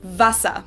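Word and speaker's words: Wasser: at all but instead we pronounce the w like the english v so we say as in vasa and then of course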